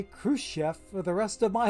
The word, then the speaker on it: Khrushchev: the V, as because the way they pronounced it on TV was Khrushchev. So I'm looking for an F at the end.